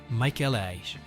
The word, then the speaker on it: Michelin: If you want to get fancy, pronounce it in the original French, Michelin.